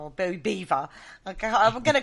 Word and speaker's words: Belvoir: Yeah, but it's still not Belvoir.